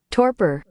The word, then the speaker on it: Torpor: Torpor. Yeah, the Google Translate or Google pronunciation agrees. Torpor.